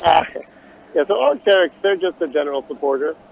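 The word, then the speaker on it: Arc'teryx: How do I pronounce that? Yeah, so Arcteryx, they're just a general supporter.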